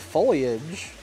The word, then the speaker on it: foliage: of like the stiff foliage that it has sorry Foliage for the pronunciation Geeks out there it's like